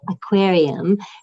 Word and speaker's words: Hackuarium: Public Lab Hackuarium, or in the French pronunciation we say aquarium, to sort of highlight